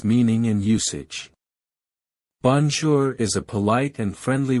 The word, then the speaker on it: bonjour: to say hello or good day it is pronounced as bonzor here's a simple explanation of its meaning in usage bonjour is a polite and friendly way to greet